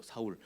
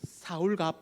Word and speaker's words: 사울: 사울은 이제 알겠어요 그죠 사울 사울은 알겠어요 사울이 이제요 뒤에 가면 자연스럽게 한 14장쯤에 가면 사울 바울 그러더니 어느 날부터 바울로 이야기하기 시작합니다 사울은 히브리식 발음이고요 바울은 헬라식 발음 발음입니다 그런 거 있죠